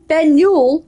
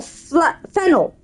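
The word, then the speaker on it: Faneuil: are doing in them don't let the French spelling confuse you the name of this building is pronounced fenu or fennel getting it wrong is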